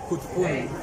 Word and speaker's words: Catacanán: Dependiendo de la frase que lo utilicemos, inicio, origen, principio, y se pronuncia Kutpun, ya que los arhuacos tienen la A al revés.